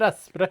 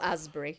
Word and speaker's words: Asbury: Herbert Aspbury. Well, Asbury, but I've just I pronounce it Aspbury for for fun.